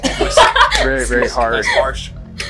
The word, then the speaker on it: Whisk: Is that right? The H is silent?